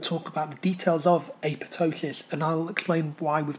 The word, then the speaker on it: apoptosis: talk you through the process of apotosis sometimes it's said um apoptosis even though it's a silent P but It ultimately means